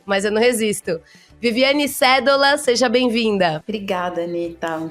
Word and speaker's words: Sedola: Viviane Cédola, seja bem-vinda. Obrigada, Anitta, um prazer. Vivi, depois de anos te entrevistando, eu descobri na semana passada que a pronúncia correta é cédola e não cedola, que já daria por si só motivo de piada.